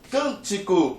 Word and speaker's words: cântico: Cântico. Onde é que está a sílaba forte? Está nessa primeira sílaba aqui, ó. Você diz cântico.